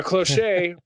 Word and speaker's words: cloche: It's pronounced cloche, you fucking Philistine. I guess dinner tray silver does pull up an image of it.